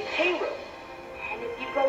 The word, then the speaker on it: Cairo: Illinois too sis spelled the same only they pronounce it hey yo South you get to Tennessee on the east bank of the Mississippi south of Cairo near a river delta to the east lies